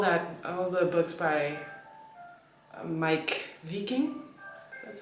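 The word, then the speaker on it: Meik Wiking: Um, and so yeah, I was like I was reading books about Huga, all that, all the books by Mike Viking. That's how you pronounce his name.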